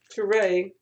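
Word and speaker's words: Touré: how to say it looks like Toure like a French name but Turay is the co-host of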